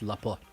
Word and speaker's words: Laporte: Apparently it's Laporte. Bernard Laporte. Who knew? Craig knew. Because he's the one that told me how to say it.